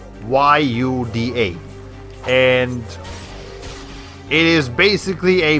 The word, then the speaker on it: tlayuda: I was calling it a Tulajuda. It's actually called a Tlajuda. Tlayuda.